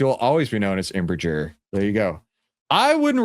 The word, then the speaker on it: Embraer: It's Embraer.